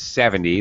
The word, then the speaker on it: seventy: sometimes you when a native speaker says 70 that is 7-0 you don't even hear the t at the end 70. you barely hear it 70 70 uh 17 17